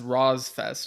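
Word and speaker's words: RoSfest: in parentheses he says by the way you can pronounce it as Ross Fest I guess because on the episode I was saying Ros Fest or something but yeah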